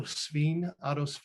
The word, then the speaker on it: Sveen: So this troll is based on a Scandinavian carver, Otto Sveen. Well, it's S-V-E-E-N. And if you say it wrong, it means like pig, apparently, but I'm sure he wasn't like that.